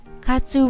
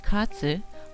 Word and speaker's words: katsu: The pronunciation katsu is the same as win. In Japan, eat before taking an exam or before a sports competition. We believe that if we eat katsu, we will win.